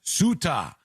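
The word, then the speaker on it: Ceuta: It's pronounced suta in case you see it somewhere, but it's a a c e- ta.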